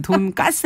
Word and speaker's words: 돈가스: 메뉴인 돈가스님 저는 평소에는 돈까스 해요 그 느낌이 사는데 자장면 같은 느낌이라고 할까 표준어잖아요 근데 돈가스라고 쓰지만 우리가 또 돈까스라고 발음을 하죠네 이게 되게 이름이 뭔가